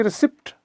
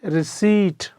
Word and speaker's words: receipt: अब ये ले लीजिए, ये जो शब्द है रिसीट, RECEIPT, इसमें P है, इसीलिए लोग बोलेंगे रिसिप्ट, रिसिप्ट, जबकि ये है ये रिसीट, पै नहीं बोला जाता।